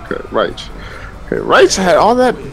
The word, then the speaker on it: Raich: Raich. Like a Raichu. Raich? Okay, Raich. Imagine that dash is a U. It's like a Raichu. Raichu. Like a Pokemon. Okay, Raich.